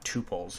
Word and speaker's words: tuple: have any questions on tuples you could Google Python tuples and it's spelled tuple like that or tuple is another way of how it's pronounced so if you have